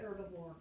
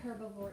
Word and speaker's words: herbivore: right you can say herbivore or you can say herbivore either one is okay but it is er is really the way you pronounce it even though it starts with h but some people do